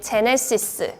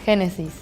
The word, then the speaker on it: Genesis: In Spain, we say Genesis. Like Hennessy, like the alcohol. Hennessy! Like the G and the J is pronounced the same in Spanish.